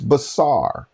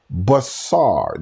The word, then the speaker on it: basar: Hebrew word for it, check me if it's basar. B-A-S-A-R. Basar is the word that is used in Isaiah. I believe it is chapter 61. How beautiful on the mountain are the feet of them who bring basar.